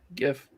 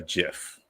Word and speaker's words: GIF: what country he's from so the g sounds like a j i don't like him